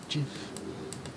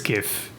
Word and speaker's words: GIF: that's actually not what's gonna happen people and pronounce it Jif it's gif thank you I say gif I say give